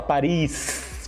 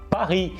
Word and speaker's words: Paris: Paris, por exemplo, em francês não se fala Paris com S no final, se fala Paris, por causa que não se fala a última sílaba, a última consoante ali.